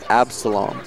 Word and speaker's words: Absolome: You got to pronounce Absalom.